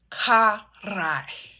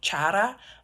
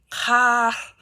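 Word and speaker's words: χαρά: You pronounce it as karai. Okay, so not chara, but karai.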